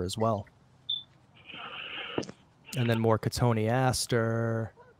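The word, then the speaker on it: Cotoneaster: well and then more katoni Aster which everybody pronounces cotton Easter all right it's like the biggest pet peeve of mine and uh not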